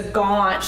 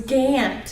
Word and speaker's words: Gant: is Gant so last year he call me gone even after somebody told him it was Gant so thank you for